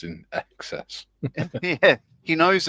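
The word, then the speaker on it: INXS: It's pronounced in excess.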